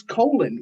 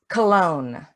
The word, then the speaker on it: Cologne: But Miss Colin, what if I have a question? It's cologne. What did I say?